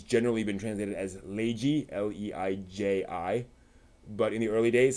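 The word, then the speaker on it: Leiji: or pronounced it as ray G which is not incorrect you know the that is a way of pronouncing it's the the L versus R can go either way it depends on what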